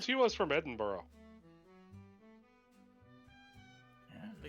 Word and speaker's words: Edinburgh: She said she was from Edinburgh. Yeah. They It's kind of look pronounced to each Edinburgh.